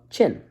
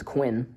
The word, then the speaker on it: Qin: Siege Warfare eventually the relatively young state of chin and so I said it was Quinn it's it is it spelled Quin but it's